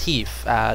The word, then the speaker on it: HEIF: You'll see high efficiency, which is, you know, pronounced HEEF.